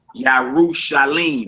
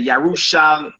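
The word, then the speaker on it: ירושלים: I know you see that dot underneath that mem. You say Yarushalamim. Lamim, but it ain't pronounced like that. As we keep going in the chapter, you're going to see it's pronounced Yarushalim. It's spelled two different ways, but it's pronounced the same way.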